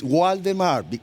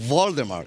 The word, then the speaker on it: Waldemar: Yeah, it's Waldemar. I'm born in Uruguay. It's not Waldemar. I know this is the right pronunciation.